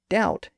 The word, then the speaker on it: doubt: Latin word subtilus again the B sound was lost in French and English picked up the word doubt in the Early Middle